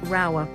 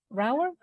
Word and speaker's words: Rauer: going to pronounce right we're saying Mrs rower Mrs rower yes she was she was